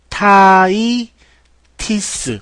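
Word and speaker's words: hepatitis: 헤파타이티스. 어우, 좋은 발음이네요.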